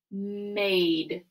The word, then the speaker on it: made: on this next word made made has four letters but it only has three sounds because of that silent e or our a team